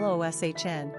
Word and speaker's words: Lucian: The spelling of Lucian, pronounced Loshn, is used among Romanians and English speakers.